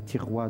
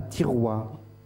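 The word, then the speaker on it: Thiaroye: Celle à Tiroua. À Tiroua. Oui, c'est dans la banlieue de Dakar. Alors ça s'écrit T-H-I-R-O-Y-E.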